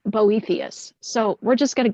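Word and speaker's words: Boethius: we're not really sure how we would have pronounced it in his day but today most people say boethus so we're just going to go with that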